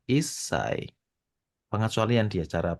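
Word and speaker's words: 一歳: satu itu dia Ici untuk menyebut umur 1 tahun itu bukan IAI melainkan dia isai pengecualian dia cara pengucapannya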